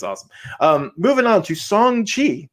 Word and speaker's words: Shang-Chi: yeah it's it's awesome um moving on to song chi i said it right said it right song